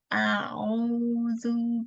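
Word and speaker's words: أَعُوذُ: Qul a'udzu birabbil falaq. Karena ainnya kedalaman, jadi ainnya bainiyah saja, lunak ya, bukan sidah. Qul malah hamzahnya yang sidah.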